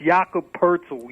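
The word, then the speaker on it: Jakob Pöltl: poti my my apology Jacob poet yeah yeah I'm trying to tell you sometimes his name is hard hard to pronounce that's yakob Perle you know no it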